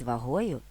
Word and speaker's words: вагою: гілячки слив гнулися під вагою наголос на другому складі темно-синіх сливок за витоптані